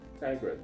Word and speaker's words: Tygrett: Um, I'm here today with Casey Tygrett. That's how you pronounce that?